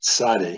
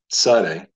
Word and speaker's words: Tzade: Consonant number 18 of 22 is pronounced Tzade. You can try saying that with me. Tzade. Tzade is pronounced like the TS in the word nuts.